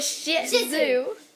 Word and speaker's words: Shih tzu: It's a cute shih tzu. It's a shih tzu. A shih tzu. It is a shih tzu. You're putting a little bit too much emphasis on the shih. Yeah, on the shih tzu.